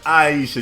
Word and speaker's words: Ayesha: It's Ayesha.